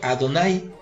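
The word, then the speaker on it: Adonai: nombre inefable del creador ya que a don light es la forma correcta de pronunciar el nombre solamente en los momentos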